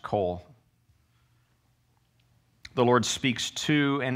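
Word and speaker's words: qol: in english it renders the hebrew word spelled in english q o l or pronounced col the lord speaks to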